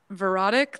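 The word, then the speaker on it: Verotik: From Verotic. That's how it's pronounced.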